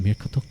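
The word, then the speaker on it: Muircheartach: This is pronounced Mirkatuk Uabrian. Obviously the Uabrian is probably a little bit easier, but Mirkatuk is that's a complicated one.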